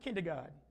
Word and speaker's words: kindergarten: But you know how you pronounce it? You pronounce it kindergarten. It sounds like garden, right?